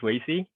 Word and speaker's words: Weixi: Han my name is Wei Zhi yeah I don't have a Christian name you can pronounce it as a to right as a